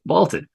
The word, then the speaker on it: VLTED: VLTED, pronounced vaulted.